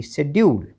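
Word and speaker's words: schedule: यू एल ई शेड्यूल इन सभी में एस और सी इकट्ठा है और वहां पर आपने सी का उच्चारण नहीं करना है। केवल एस से ही अपने शब्द का जो है उच्चारण शुरू करना है।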